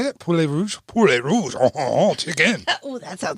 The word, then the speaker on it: poulet rouge: Poulet rouge?